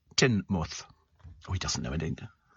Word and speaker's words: Teignmouth: Teignmouth is pronounced Teignmouth.